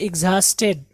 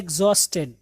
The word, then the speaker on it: exhausted: His body was racked with pain and he was completely, इसको हम पढ़ते हैं exhausted, जो कि गलत है, यह है exhausted, क्या पढ़ेंगे? exhausted, यहाँ पे हा साइलेंट है, exhausted, ओके, एक बार फिर से पढ़ता हूँ।